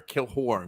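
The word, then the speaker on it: Killorn: there but at least put a dash in there kill horn because that's how you're supposed you're trying to pronounce it that way and like let's be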